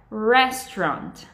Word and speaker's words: restaurant: Pode até ser que entendam, mas essa não é a pronúncia correta e muito provavelmente vai causar confusão. Se o correto é restaurant, né?